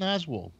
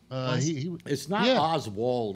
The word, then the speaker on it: Oswalt: No, it was Patton Oswalt. Oswald, it's Oswalt.